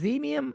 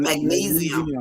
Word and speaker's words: magnesium: Uh, mag max magmium. Is that how do you say it? Magnum. Magnesium.